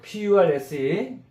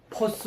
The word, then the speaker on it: purse: 이것도 알 발음이기 때문에 우리말로 퍼스 이러면 안 되고 Purse. 그러니까 퍼가 약간 길면서 알 발음을 해줘야 돼요.